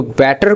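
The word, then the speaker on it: better: तो बेटर को हम बोलेंगे बैटर।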